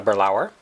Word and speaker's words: Balaur: I tried a Balaur I pronounced it incorrectly it's called a burl hour and I'd actually didn't